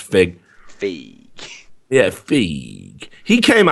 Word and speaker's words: Feig: He he came out and fucking said, or Paul Feig, but I think it's pronounced Fig.